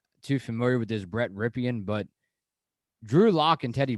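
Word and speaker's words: Rypien: I think his last name is Ripien, is how you say it.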